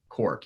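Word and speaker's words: Corq: all kinds can also be found on the Cork app. It is spelled C-O-R-Q, Cork.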